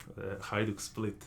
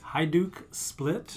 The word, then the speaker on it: Hajduk Split: I might need your help again on the pronunciation, but you are a big supporter of the Croatian soccer club. Hajduk Split. Hajduk Split?